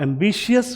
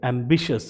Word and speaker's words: ambitious: तो आप एम्बिशियस बोलना छोड़ दें, इसे बोलेंगे एम्बिशियस, क्योंकि CIOUS एंडिंग और TIOUS एंडिंग को हम शश प्रोनाउंस करते हैं।